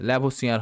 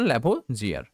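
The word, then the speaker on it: Lavoisier: ঠিক আছে, ল্যাভোসিয়ার হবে, এটা বাংলায় উচ্চারণ ল্যাভোজিয়ার।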